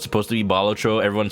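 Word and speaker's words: Balatro: I I pronounced bolatro the way that it's supposed to be, not bolatro.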